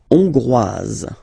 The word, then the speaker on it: Hongroise: La Hongrie, Hongrois, Hongroise. Okay? Hongrois, Grois, Hongroise. Okay, so here, final S not pronounced for the masculine form, and then you pronounce it here for the feminine form.